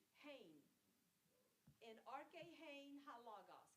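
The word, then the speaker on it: ἦν: Now that third word begins with an Ada, but it's got a rough breather, so you would pronounce that with the H. Hain.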